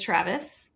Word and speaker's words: Traves: not even close um my last name has two syllables it is Travis I you know what